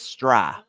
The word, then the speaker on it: Stry: According to our pronunciation guide here, it looks like it's Stry. Whoa. Rhymes with fry.